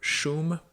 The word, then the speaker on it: Wyy: their existence, but uh this is the group Shum is how you pronounce it, even though it's spelled W Y